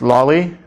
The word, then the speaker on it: lolli: okay it's usually pronounced lolli okay because it's like a lollipop on its side okay or you can